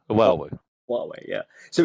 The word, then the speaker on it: Huawei: And yeah, I mean, people do pronounce it in lots of different ways, but I'll try again, which is Huawei. So it's Huawei, Huawei.